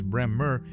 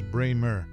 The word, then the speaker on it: Bremer: of Life magazine notably her last name often mispronounced as brmr is correctly articulated as Braymer beyond the nuances of pronunciation she played a